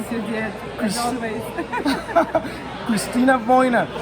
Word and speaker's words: Cristina Voina: Hi everyone, I am here with Cristina Voina. Did I pronounce that correctly? Yes, you did, as always. Cristina Voina. Cristina Voina is a real estate investor, and she's part